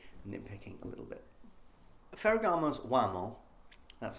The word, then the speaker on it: Uomo: point I'm probably nitpicking a little bit Fig's wamo that's how you pronounce it is one of those great examples